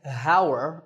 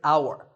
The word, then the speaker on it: hour: tour in number nine the spelling has an H at the start but that H is silent we don't say how're we say our the first sound is